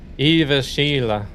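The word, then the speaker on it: Jyväskylä: That a is is pronounced like air.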